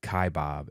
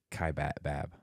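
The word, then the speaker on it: Kaibab: online classes that um we also mispronounced one Checker said that we M mispronounced uh Kai Bob it's it's Kai bab kab kab yeah it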